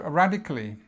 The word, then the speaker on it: radically: So we start here with the stress, rad. So this is ah sound, very ah. Radically, so radically.